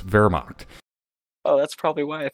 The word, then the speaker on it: Wehrmacht: Wehrmacht. It's German. W sound like V's. Wehrmacht.